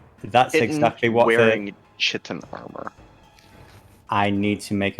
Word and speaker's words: chitin: its leg is solid kitten, chitin, however you pronounce that. Give me So, the leg. I think it's chitin. chitin, Kitten. yeah. Like kitten.